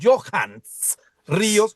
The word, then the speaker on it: Johans: Yo soy Johans Ríos, usted lo pronuncia muy bien, Germán, punto a favor.